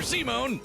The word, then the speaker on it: Simon: Um, Simone is like the Spanish version of that word.